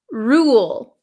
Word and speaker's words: rule: the second one is Rule Rule Ru there there's almost a w sound Ru W Ru rule